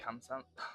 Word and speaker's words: 감사합니다: And thank you means 감사합니다 in Korean. 감사합니다.